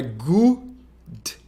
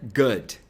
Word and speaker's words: good: Então a pronúncia não é good ou good, mas é good.